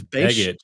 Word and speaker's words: Begich: Congressman Nicholas Begich, I hope I pronounced that correctly. Opti, is it Begich? It's Begich, bro.